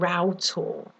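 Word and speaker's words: Rough Tor: the Cornish Peninsula and it's called route all and it's spelt rough tall or ough amazing place and there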